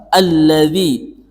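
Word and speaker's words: الذي: tapi aritalladzi yang kedua alladzi aritalladzi pada kata alladzi alladzi ini merupakan alif lam syamsiah alif lam syamsiah yaitu kita membacanya dengan am kita kita memasukkan huruf yang bertasdid kebetulan di sini adalah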